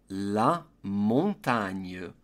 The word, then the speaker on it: la montagne: The gn in French is a little bit tricky. Simply pronounce it as knee, like your knee in English, and then the final e is going to be an sound, hence the pronunciation la montagne.